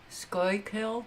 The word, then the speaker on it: Schuylkill: In Schuylkill? What is it? How do you pronounce this place?